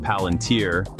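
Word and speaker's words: Palantir: While Palunteer pronounced Palunteer jumped almost 7% after strong results.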